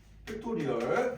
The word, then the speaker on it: 팩토리얼: 읽고 아 느낌 느낌표 기호로 쓰고 읽을 때는 뭐라고 읽냐 그은 팩토리얼 또는 우리말로 계승 이렇게 얘기를 해줍다 어 자